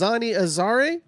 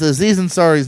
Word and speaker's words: Aziz Ansari: gonna discuss how do you say it as Anya's Ari Wow that's horribly not even close Aziz Ansari's new stand-up special right now and that's gonna